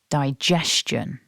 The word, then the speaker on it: digestion: can see here that the word is divided into 3 syllables and that we stress syllable 2. Digestion. Now let's break it down into parts. The first syllable starts with the voiced D sound, so you need to remember to vibrate your throat for that. And then we've got the double vowel I. So together that's die.